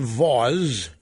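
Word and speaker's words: Vause: program is again him John Vaz rhymes with gauze and he had on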